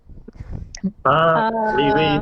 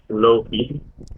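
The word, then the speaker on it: Laufey: Leeway, Uh, the pronunciation of his artist name.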